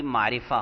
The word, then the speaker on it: معرفہ: لہجہ بھی درست ہو۔ معرفہ، اس کو معرفہ نہیں کہیں گے بلکہ کہیں گے معرفہ۔ میم، عین، میم پر زبر، عین پر جزم، را